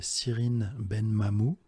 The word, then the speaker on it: Cyrine Benmamou: Et il y a une nana, donc je ne sais pas si elle fait encore des vidéos, qui s'appelle Cyrine Benmamou. Cyrine ça s'écrit CYRI2NE, Ben Mamou, M-A-M-O-U.